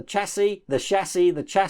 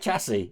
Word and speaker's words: chassis: I call it chassis. It's probably pronounced chassis. I think it's a French word anyway, so it would be pronounced ch, as in champagne.